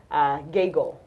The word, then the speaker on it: Gaggle: I mispronounced his name it is Paul gaggle and not the other name that I used I think was Paul Bigelow so Paul gaggle he's